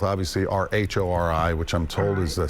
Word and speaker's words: Rhori: And mine is spelled, obviously, R-H-O-R-I, which I'm told is the Scottish spelling of the Irish name found in my family way back when.